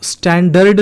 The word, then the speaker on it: standard: Sound सुनो, मैं क्या कह रहा हूँ? स्टैंडर्ड नहीं कह रहा, स्टैंडर्ड कह रहा हूँ। ऐसा क्यों? आपको दिख रहा है इसमें ये R वॉवल दिख रहा है ना? चूंकि इसमें R वॉवल आया है और इसके तुरंत बाद एक कॉन्सोनेंट साउंड है ड का या डी का, अल्फ़ाबेट है डी